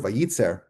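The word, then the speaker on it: וייצר: And the word vayitzer, it's actually pronounced the same way as it would be if it had only one letter yud.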